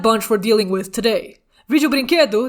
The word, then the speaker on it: Vídeo Brinquedo: we're dealing with today vijobrinkedu that's the correct way to pronounce it is a brazilian animated